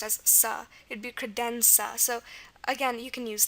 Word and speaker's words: credenza: Another example is credenza.